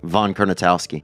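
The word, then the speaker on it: Kurnatowski: Von Kernitowski.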